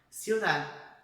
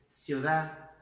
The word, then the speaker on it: ciudad: Ciudad, viu? Ciudad. Então, a língua chega a bater atrás dos dentes, mas a gente não pronuncia.